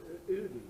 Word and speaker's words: Ytterby: It's near the town of Ytterby. Did I pronounce that correctly? Yeah, Ytterby.